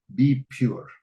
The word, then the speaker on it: BPUR: use of religion and we prefer to pronounce it as be pure this is a I